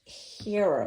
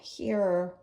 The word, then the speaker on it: Hera: I have I believe it's pronounced Hera marker. Hera marker. H-E-R-A, I think.